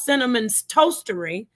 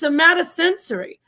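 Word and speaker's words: somatosensory: paper about consciousness and you can't even pronounce sataensory, not not sinnamon's toastery, it's somataensory.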